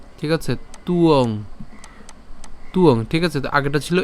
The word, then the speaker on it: ত্বং: তাহলে যদি আমরা একসাথে যদি উচ্চারণ করতে যাই তখন একে আমরা এভাবে উচ্চারণ করবো, তুয়ং। ঠিক আছে, তুয়ং, তুয়ং।